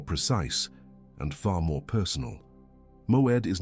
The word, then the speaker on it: moed: The word is moed. Two syllables.